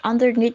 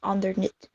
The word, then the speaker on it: underneath: In the video, word underneath is pronounced as underneath, when Oxford Dictionary is pronounced as underneath.